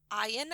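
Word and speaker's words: Eyen: So the writer for the original stage production of Dream Girls, the playwright was Tom Ian, I think it's pronounced E-N.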